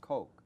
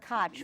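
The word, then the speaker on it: Koch: it's not I know it's not kotch which some people say and I don't want Ed cotch to be insulted so I pronounce it as far away Coke like cocacola the Coke brothers or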